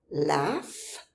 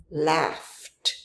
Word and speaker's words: laugh: Laugh ends in. Notice the spelling does not look like F. Nevertheless, the pronunciation, the sound of the last consonant is F. So, it becomes laughed.